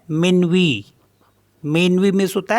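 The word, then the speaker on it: minuit: आई एन यू आई टी इसको पढ़ते हैं मनवी मनवी मींस होता है मिडनाइट नेक्स्ट है टीटीएच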